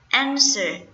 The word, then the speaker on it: answer: Next one, answer. So ans here is the first syllable stressed.